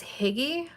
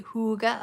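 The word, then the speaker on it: hygge: h y GG um which I like to say is higgy but my really annoying super amazing and wonderful friend who actually speaks Danish pronounced it the correct way for me and now I have to say Huga of it all and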